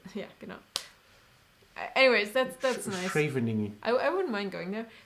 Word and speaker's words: Scheveningen: Again, tell me how to pronounce the beach city. What? Scheveningen. Yeah, genau. Anyways, that's nice. Scheveningen.